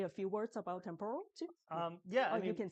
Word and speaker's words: Temporal: Now, we want to thank our event host uh Temporo. And uh did I say it correctly? That's the way, right? Temporal, right?